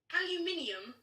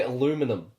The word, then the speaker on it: aluminium: Aluminium. That's right. Because the Americans say aluminum. Oh, aluminum. Aluminum. What's alum? It sounds like a Harry Potter spell. Aluminum. Aluminum. Aluminium. Yeah, it's aluminium.